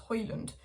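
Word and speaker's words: Højlund: surname it's pronounced Halen but a palette is pronounced hoyland which was really confusing me but I guess one's a Danish pronunciation and one's you know but anyway Rasmus hoyland Manchester United are actually sort of looking at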